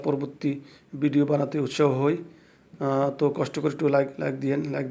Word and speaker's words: tak: মালয় শব্দের শেষে যদি কি আসে তাকে এটা উচ্চারণ হয় না, লেখার সময় লিখতে হয়, না লিখলে অর্থ হবে না, কিন্তু পড়ার সময় উচ্চারণের সময় এটা উচ্চারণ হবে না। যেমন তাক, টিএকে তাক ফাহাম, কিন্তু আমরা বলবো তা ফাহাম।